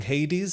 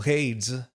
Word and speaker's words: Hades: I submit that you should be pronouncing Hades as a single syllable. Hades. You think it's Hades?